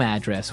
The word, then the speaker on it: address: So different from your home address where you live. Yeah, and there the stress is on the first syllable.